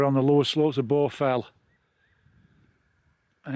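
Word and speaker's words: Baugh Fell: one called borfel and borfel is not the borfel in the lake district obviously it's spelt b-a-u-d-h and it's a massive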